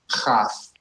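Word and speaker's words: כ: Kaf. Nice. There you go. When you take the dot out of kaf, it becomes chaf.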